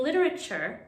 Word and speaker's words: literature: have literature and literally in literature the t sounds like a ch literature literature in both